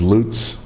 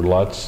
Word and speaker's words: Lutz: Her maiden name was Lutz, or Lutz, as she pronounced it, L-U-T-Z.